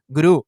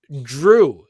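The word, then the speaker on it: Jrue: to say the name i call him gru like the the guy of the of the movies yes uh drew so it should be like um yeah so like it would be like d-r-e-w how that name is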